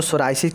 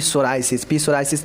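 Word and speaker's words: psoriasis: दोस्तों सोराइसिस क्या होता है, देखिए बहुत लोग इसको पढ़ेंगे पी सोराइसिस नहीं होता है, पी साइलेंट होता है।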